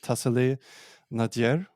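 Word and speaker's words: Tassili n'Ajjer: is not that known, but we're looking at, I did some digging on this, the Tassili Nadir, as it's pronounced, and it's a UNESCO site today, and the area has fantastic cave paintings.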